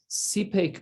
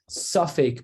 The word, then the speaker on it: sipek: It's not safek biyadam limchos. He wasn't sure if he should make a stink. It's sipek biyado.